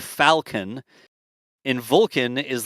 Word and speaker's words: Falcon: pronounce Falcon and Vulcan Falcon is like a like an F Falcon and Vulcan is like a vul Vulcan the in sounds the same to me like I don't say Falcon in Vulcan right like